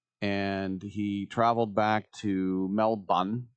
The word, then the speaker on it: Melbourne: and he traveled back to Melbourne, don't pronounce the R, in Australia because he does play for the Australian national team.